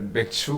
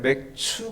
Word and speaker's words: 맥추: 자, 우리가요 오늘 맥주 감사주일입니다. 이 처음 신앙생활 하시는 분들은 맥주 감사주일이다 그러면요 발음을 맥주 감사주일로 생각합니다. 그래서 어떻게 교회에서 술을 가지고 감사하냐? 이건 맥주 감사주일이 아니라 맥추 감사주일입니다.